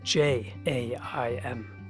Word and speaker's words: jaim: But if you want to say my coats, they add an J-A-I-M, and it's pronounced in Hungarian as jaim, because the J is pronounced as a Y.